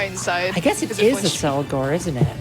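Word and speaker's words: Accelgor: i guess it is a cell gore isn't it i always pronounce it as like acklar yeah cause it's accelerate yeah it makes sense it's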